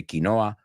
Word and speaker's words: quinoa: no expert here but quinoa you say kinoa we say quinoa yeah I don't know why we don't say kinoa it makes sense to say Kino we say quinoa quinoa